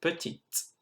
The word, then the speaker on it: petite: Je suis petite. Well done for pronouncing that T and that E at the end.